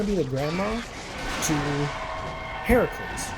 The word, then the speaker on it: Heracles: And one of your descendants, you're going to be the grandma to Heracles, which is how it's pronounced in Greek, and then in Roman it's Hercules.